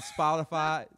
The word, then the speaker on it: Spotify: i think you're right it is spot spotify with a d or whatever it's a t or d it's a